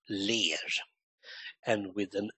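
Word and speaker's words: ler: times of 99 in Swedish smile is um pronounced lay and with an l l e r and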